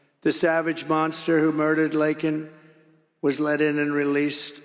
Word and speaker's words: Laken: Laken Riley, got to know her family very well.